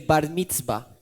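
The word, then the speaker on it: bar mitzvah: el barniz maestro Gracias mi hermano se lo pronuncia bien allí para que Ese es el bar mitzva listo listo era como esa prueba ese grado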